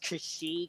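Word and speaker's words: Xi: So it is tempting, but I want that Zai or I've heard it pronounced Kashi because that's how the Greek letter is said. yeah. But for now I'm saying Zai because that's how it's phonetically written.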